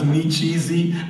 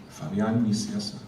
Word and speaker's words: Nicieza: So it was Nicieza, it was nice and easy. He might have done Nicieza one time. So he just purposely kept doing it. And I'd have people come to me at conventions, and Fabian Nicieza. So what is the correct pronunciation? You have to try it again. Nicieza. It's Spanish, so Fabian Nicieza.